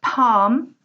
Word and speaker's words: palm: so the first word Palm the L is silent you do not say